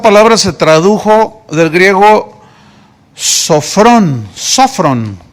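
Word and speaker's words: σώφρων: Esta palabra se tradujo del griego sofrón, tiene acento en la primera O, sofrón.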